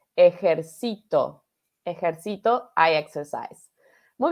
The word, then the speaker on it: ejército: diferencia ejército ejército ejército la diferencia está en las en la sílaba tónica dónde va el énfasis de la de la palabra ejército da ese es de militar y ejército ejército ajax esa es